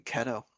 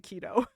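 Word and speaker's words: Ceto: Um, so, uh, Fors and Ketto or keto, I think, is literally the pronunciation. Oh, I was saying Ketto. I'm almost certain it's actually keto. The diet. Okay. Sorry, I had to make the joke. Um, it's like keto like Leto.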